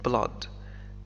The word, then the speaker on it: blood: The curse started with blood and it ends with blood وستنتهي بالدم blood هناك كلمات أخرى ننطقها كبلد فيها حرفي O مثل flood flood He took the bloody